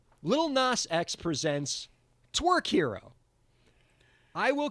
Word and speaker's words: Lil Nas X: I pronounced it like Nas, like the pop star. So we just got to back it up. It's just Lil Nas X. Just let it flow. Softer flow S.